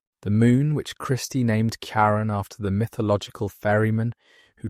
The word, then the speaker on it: Charon: The first syllable of Charon, pronounced differently in astronomical usage than in classical mythology, honored both the ancient fairyman and the astronomers beloved spouse. The discovery of Karen was momentous for several reasons.